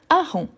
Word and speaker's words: hareng: Ensuite, on a hareng. Hareng. Hareng, H muet ou H aspiré. Hareng, H muet ou H aspiré. Merci. Merci. Donc, c'est un H aspiré, le hareng.